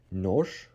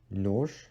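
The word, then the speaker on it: нож: And one thing you need to notice is that at the end of a word, when zh is being placed, it should be de-stressed as sh, sh.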